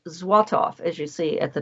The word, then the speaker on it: Złotów: And it is spelled and pronounced Złotów, as you see at the top of the screen.